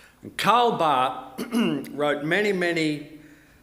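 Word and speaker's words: Barth: Last name is spelled B A T, but it's actually pronounced Bart because he's Swiss. And Carl Bart wrote many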